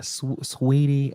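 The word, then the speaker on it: Saweetie: Is it Sweetie? Is that how you say her name? Yeah, Sweetie. Yeah, I think that's.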